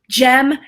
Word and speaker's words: Jem: Welcome, Jem. Thank you. Thanks for having me. It's a hard G, just so you know, if you're looking at it.